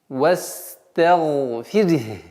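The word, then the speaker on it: وَاسْتَغْفِرْهُ: После звука ра, мягкого звука ра, в данном случае она произносится мягче, нужно до конца произнести звук ха. Вастагфирх.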